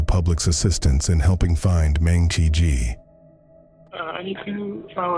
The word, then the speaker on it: Mengqi: It's actually Mengqi, and it has tone to it. It's Mengqi.